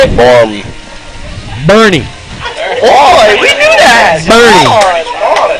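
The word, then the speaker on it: Boerne: Borm. How do you say it? Borm. Bernie.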